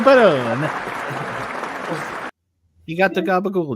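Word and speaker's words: Perron: uh it's a and I believe it's pronounced a parin family another negative two for Drew what I didn't even hear what he said I went to with Joey Peron it's spelled the same it's Joey Peron he got the Gaba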